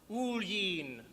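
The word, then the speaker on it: Oillin: me boy it's a good irish name it's pronounced ulying do you know what that means me name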